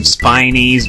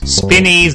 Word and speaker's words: Spinies: to make an effort to call them spinies because spinnies doesn't make a whole lot of sense they've got spines but they don't spin all right so we